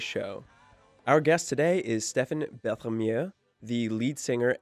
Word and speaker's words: Stephen: I'm happy to be here how are ya Stefan first things first tell us about your name yes did I did I pronounce that right yes you said it perfectly